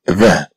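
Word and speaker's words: vingt: 20. C'est 20. Et donc, c'est 20. Alors, est-ce que le mot 20 comprend ou pas le son 1? Oui. Oui, il le comprend.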